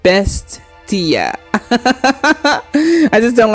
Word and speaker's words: Bestia: Bestia. Not Bestia, but Bestia.